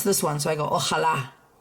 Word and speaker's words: Ojalá: The accent is on this syllable, on this letter, which means I need to say that syllable the loudest. So I'm not going to go ojalá. Okay, that would be putting it here.